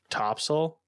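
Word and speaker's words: Topsail: We um we stayed on Topppsel or Top Sale as it's spelled, but you know, North Carolina has this Topppsel.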